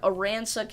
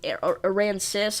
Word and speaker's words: Aransas: This is for northeastern Aransas County, or Aransas. I don't know if it's like an Arkansas situation where the last S is silent.